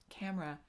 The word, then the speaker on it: camera: sure why i think camera i think it's because growing up in the place that i grew up i only ever heard it as a two-syllable word camera and so when i